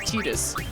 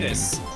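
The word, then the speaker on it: Tidus: His name is actually pronounced Tetus and everyone.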